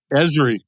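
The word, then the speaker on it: Esri: of a company called ersy is that how you pronounce it ezri environmental systems Research Institute yeah ezri it's the reason I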